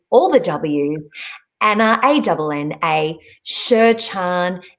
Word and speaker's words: Sherchand: Again, that web address is all the W's, Anna, A-N-N-A, Sherchand, Sherchand. I remember the D is silent, but you've got to put it in if you're doing it on the website, .com.